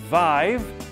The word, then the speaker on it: Vive: solution to this problem it's called vive rhymes with alive and it offers automated